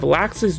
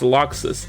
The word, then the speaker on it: Laxus: which is actually pronounced luxus this one makes no sense to me how the am i supposed to know that lacks is supposed to be pronounced locks they should have just